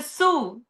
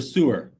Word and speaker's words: sewer: remains goes to the sew. So, the water in the sew is uh filtrated again. And the sewer. Yeah. Now, you you pronounce that like a real Brazilian. You took off the last syllable.